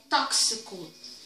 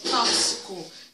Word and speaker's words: tóxico: é uma ela oxe o problema do x é um dos que mais as pessoas erram tá porque é tóxico de acordo com o atleta é tóxico tem pessoas que falam plásticos tá como se fosse um ch então acompanha aí direitinho